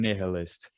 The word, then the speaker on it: nihilist: Chief Rebel Angel, Young Man Nihilist. It's pronounced nihilist, you fucking donut.